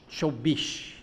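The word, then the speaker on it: চব্বিশ: Chobish.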